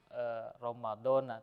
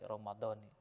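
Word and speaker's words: رمضانِ: melafalkan niat yang lengkap yang bacanya bukan Romadhona tetapi Romadhoni misalnya kita berdoa nawaitu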